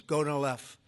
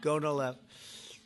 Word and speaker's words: Gonal-f: So it's Gonal-F. Is that a proper pronunciation? Very Close well enough, done. right? Very well done. Gonal-F.